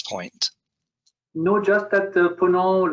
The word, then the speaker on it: Ponant: yesterday during our briefing i would not pronounce the t so for everyone out there i speak only english but you know what i've been corrected many times and pono it's the west of